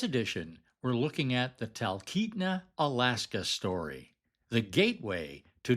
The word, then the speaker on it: Talkeetna: Pronounced Talkeetna.